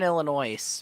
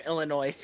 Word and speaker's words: Illinois: yeah you're definitely from illinois because you pronounce it wrong illinois or or correctly have you never seen a word where the s is silent illinois illinois illinois huh